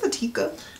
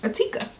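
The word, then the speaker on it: Ettika: I'm happy that you're pronouncing that and not me. A pair of cute little earrings. I think it's Atika. E-T-T-I-K-A. Atika.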